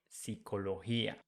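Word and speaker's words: psicología: we put I and remember that the pronunciation with G when it has I after G is like H in English so we say Pia psychology psychologia let's see the next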